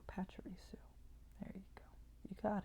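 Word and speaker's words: Pachirisu: squirrel squirrel electric squirrel pacharisu not tiramisu not tiramisu pacharisu there you go you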